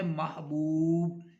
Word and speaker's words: محبوب: پڑھے ہیں وہ ہے محبوب. تو محبوب میں پہلا مفتو، دوسرا ساکن، تیسرا مضموم. جیسے مغلوب، محبوب کے وزن میں آنے والا پہلا لفظ ہے مغلوب.